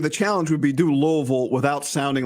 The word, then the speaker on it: Louisville: can do it the challenge would be do loville without sounding like you're trying to say every